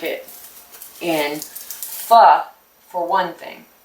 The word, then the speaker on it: pho: And I really like it in pho, for one thing. P-H-O. It's not pho. Please don't say it like that. It's pho, and it is really quite